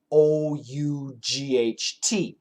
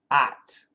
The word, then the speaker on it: ought: And the standard pronunciation is ought. But if you go to Boston, it's at. And if you go to LA, it's ought. And if you go to other parts, if you go to the UK, ought.